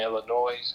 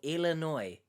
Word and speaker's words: Illinois: live in the same state I live in, Illinois, and that they were willing to travel to see. Oh, first of all, you live in the state of Illinois, and you've pronounced it Illinois.